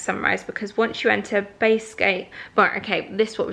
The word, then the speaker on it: Basgiath: the girls group chat, how do we pronounce I say Basgiath, but it's actually I A T H at the end. So, Basgiath, maybe? Basgiath or Basgayath War College.